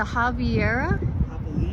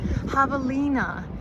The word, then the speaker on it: Javelina: The Javiera? Javelina.